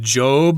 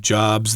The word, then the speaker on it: Job: Yeah, this guy from the Bible, his name is pronounced Job. Okay, most times it's pronounced Job, like Steve Jobs, the founder of Apple Computer or whatever.